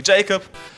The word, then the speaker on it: Jakob: It's pronounced Jakob. In English it would be Jacob.